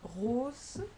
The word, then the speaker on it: rose: Example, the usual example is rose and grosse. Okay, so you can see here vowel, vowel. This is one S and it's pronounced as Z.